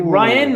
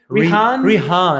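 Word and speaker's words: Rhian: Is it Ryan or Rihan? Rihan, I believe.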